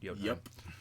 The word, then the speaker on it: Jotunheim: There's Jotunheim, or Jotunheim, I think is how it's pronounced. Jotunheim.